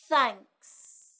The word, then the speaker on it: thanks: sound in Vietnamese it's put your tongue between your teeth like this then end the word with the sound thanks thanks thanks ah she also